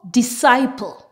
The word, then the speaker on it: disciple: When we have a combination of S and C together, the C is silent and we just pronounce the S sound.